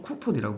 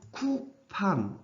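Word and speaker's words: coupon: 쿠폰이라고 그러면은 또박또박 안 읽게 될 것 같으면 미국 가서 이렇게 쿠폰 이러면은 아마 못 알아들 겁니다. 아무도 못 알아들 거예요. 발음 기호를 보게 될 것 같으면은 제가 이거는 네이트 사전의 거를 스크린샷으로 이렇게 뜯어 놓았는데 조금 좀 제가 봐도 좀 어색해요. 예, 미국식 발음으로는 큐판 이렇게 난다는 겁니다. 강세는 여기 떨어진다는 뜻이에요.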